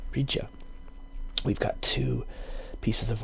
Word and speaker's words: Rydia: I always thought the English pronunciation was Rydia. Let me just check. I always thought it was Rydia. The spelling in English was R-Y-D-I-A. But it looks like here with the phonetic, the katakana Rija.